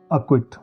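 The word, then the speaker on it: acquit: और आगे सी क्यू के या के पहले आ जाए, सी के या सी क्यू, तो उनमें सी साइलेंट होता है। मॉक, अक्विट।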